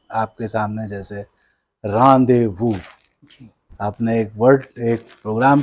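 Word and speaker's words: rendezvous: और जो कि हम लोग जो इंडियन इंग्लिश वाले हैं वो उसी को प्रोनाउंस करते हैं रेंडेजोवस। कभी भी रांदेवू नहीं बोलेंगे, रेंडेजोवस बोलेंगे, क्योंकि वहां पर जो एक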